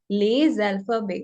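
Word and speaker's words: les alphabets: We will speak whole word like this, les alphabet. Now here I'm speaking s as z.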